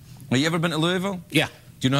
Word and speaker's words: Louisville: Here's one from Louisville, Kentucky. Have you ever been to Louisville? Yeah. Do you know how to say it properly? You don't say it Louisville, you say it Louisville.